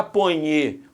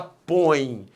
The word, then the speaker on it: põe: Você não fala ponhe, a janta aqui, você fala põe. Você fala põe, a força tônica está no o O é a vogal, o E é a semivogal, o ditongo é decrescente.